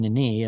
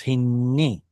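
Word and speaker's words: הִנְנִי: Hinni, this is only audible because we have the same letter, or at least a close enough sound, the same letter, hinni, and we have to pronounce some kind of a vowel sound there. Otherwise, it just becomes hinni, and you can't tell there are two noons there.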